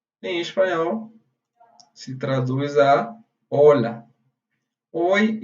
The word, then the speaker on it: hola: Primeiramente, oi, em espanhol, se traduz a hola. Oi e olá, em português, significa hola em espanhol. Mas é hola com H. Esse H daqui, ele você tem que escrever.